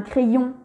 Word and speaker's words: crayon: Si je te donne ce mot, un crayon, Y est bien entre deux voyelles, le A et le O, il va se prononcer deux I, double I.